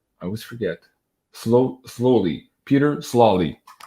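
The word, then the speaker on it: Sloly: Peter Slawley. It's not slowly. There's no W.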